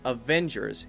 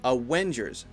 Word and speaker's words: Avengers: to be careful about the V sound and the W sound when you say Avengers your bottom lip needs to come up to your teeth the butt doesn't need to be here ha ha no just on the inside of your bottom lip Vava otherwise it sounds like a w al Wenders a Wenders